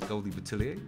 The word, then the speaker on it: Goldie Boutilier: Goldie Boutilier. Am I pronouncing that correct first? Because I kept contradicting myself. It's Goldie Boutilier?